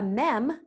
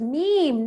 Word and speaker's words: meme: so I saw a mem laughter erupted for my teen twins it's pronounced meme not mam you sound like Elle's mom who said me me